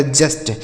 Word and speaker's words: just: आगे JUST, जे से हो जाएगा ज, यू का उच्चारण अ हो जाएगा यहाँ पे, एस से आधा सा और टी से ट, ये लिखा गया जस्ट, JUST जस्ट हो गया।